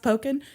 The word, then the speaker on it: Pokin: Louis Post Dispatch um I know it's pronounced poken because he has a called poking around no good for you